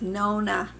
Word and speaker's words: Nonna: It is Nonna, just like you're saying no.